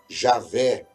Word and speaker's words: Javé: demais para ser pronunciado com o tempo essas vogais que eles colocaram elas se incorporaram junto a essas consoantes E aí nós vamos ter a pronúncia do nome Jeová conhecemos hoje na Língua Portuguesa ou Javé ou yavé é dessa maneira que nós chegamos à pronúncia ocidental do nome de Deus vale a pena dizer